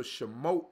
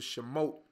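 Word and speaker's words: Shemot: of Sidra Shamu right so Shamu is how you say Exodus in Hebrew Oh Shamu is how you said in Hebrew an exodus is how you said in what we know was English so she moat means names so remote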